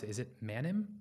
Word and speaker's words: Manim: So help me pronounce it. Is it Manim? Manim, yeah.